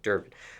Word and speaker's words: Durban: And speaking of Durban, did I pronounce that correctly? Yep. Okay, Durban.